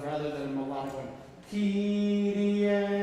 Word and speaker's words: Kyrie: Kyrie, right? And 1. Yeah, remember it's Kyrie, not Kyrie, right? Don't go to the last note, make the first note a little more.